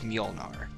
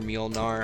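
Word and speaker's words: Mjölnir: or whatever it's called it's supposed to be it's actually pronounced the hall of mjolnir thor's hammer yeah you'll near milnar i've heard it pronounced multiple different ways for sure and that's something that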